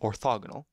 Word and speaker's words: orthogonal: Orthogonal lines, okay, and yes, I'm saying agonal, but that's probably because that's the way my teacher taught it to me, but it's spelled with an O, so orthogonal.